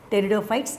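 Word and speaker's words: Pteridophyta: so get the books teredo fights erp is the silent so we have to say what terrible fights p is the silent letter the same like this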